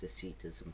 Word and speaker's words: Docetism: like that but I searched up and it's pronounced deism so I'm going to say like that deism